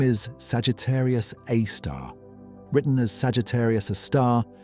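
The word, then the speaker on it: Sagittarius A*: Its name is Sagittarius Aar written as Sagittarius a star and usually pronounced Sagittarius Aar.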